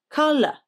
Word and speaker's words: colour: With colour, the first syllable is stressed, k, and the ou in the unstressed second syllable is a schwa, l, colour, colour.